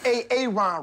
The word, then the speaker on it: Aaron: you say it the first time I said a a Ron because it's pronounced Aaron you're done messed up Aaron now